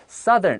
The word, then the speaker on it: southern: Southern，我们这边特别注意一下这个 S-O-U 的声音。好，如果我们光讲南方，我们会讲 south。ow 的声音 Like mouth. Like mouth 但是如果你今天要变成形容词的时候，你会念成 southern Like umbrella.